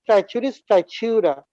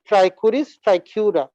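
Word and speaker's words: Trichuris trichiura: Okay, infection with ট্রাইচুরিস ট্রাইচিউরা is known as ট্রাইকুরিয়াসিস। তোমাদেরকে আমি আগেই বলছি উচ্চারণটা হবে কে দিয়ে, ট্রাইকুরিস ট্রাইকিউরা।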